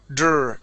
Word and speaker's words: draw: So here's the trick with the DR. Okay, you're saying you're pronouncing them as two separate words, D and R. Dr. Okay, and you're rolling your R. So I want you to think of it as one individual sound. That sound is now dur. Okay. Yeah, don't roll your R.